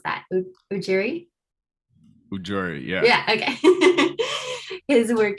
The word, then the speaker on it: Ujiri: Sorry, Darius, correct me on how to pronounce that. Ujiri? Ujiri, yeah.